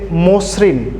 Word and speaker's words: মসৃণ: ঠিক একইভাবে আদিতে অ আছে, ময়ের সাথে অ আছে এবং দন্ত শয়ের সাথে রি থাকার কারণে উচ্চারণটি হচ্ছে মসৃণ, অর্থাৎ আদ্য ময়ের সাথে ওকার চলে এসেছে।